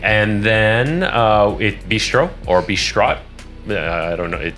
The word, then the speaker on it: bistrot: And then bistro or bistrot. I don't know. There's Bistro. a T. Bistro. Okay. There's a T at the end of this. Yeah, but you don't, spelling, it's silent.